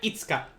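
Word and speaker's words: 五日: this who knows uh the fifth day hai itsuka this will be itsu what about the six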